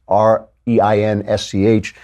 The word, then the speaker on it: Reinsch: I also would like to thank William Reinsch, who I don't know if that's how you pronounce it. It's Reinsch.